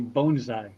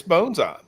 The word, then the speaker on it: bonsai: She said not to be the most obnoxious one in the room, but it's actually bonesai. So if you're if you're wearing your Japanese uh vernacular and accent, it's bonesai. Bonesai is correct.